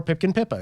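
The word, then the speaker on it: Pipkin Pippa: pppa Pipkin merchandise or Pipkin pipa if I was to say her name correctly for once and you can order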